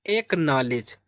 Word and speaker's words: acknowledge: और KNOW इसे पढ़ेंगे ना, क्या पढ़ेंगे ना। LE से पढ़ेंगे ले। और DG को पढ़ते हैं जा, क्या पढ़ते हैं जा। तो इसका प्रोनाउंसिएशन हो जाएगा एक नॉलेज, एक नॉलेज, क्या पढ़ेंगे इसको एक नॉलेज।